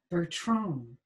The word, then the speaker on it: Bertrand: you called me back bertrong he pronounced the name the french way she ignored his automatic